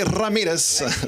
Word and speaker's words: Ramirez: what is my name my name is Ramirez sorry um yes so I like to pronounce it that way to maybe signify signal to people that I am Latino cuz it's is not